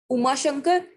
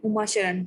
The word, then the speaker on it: Uma Sharan: Uma Shankar. Sharan. Sorry. Uma Sharan. Sorry. I mispronounced your name.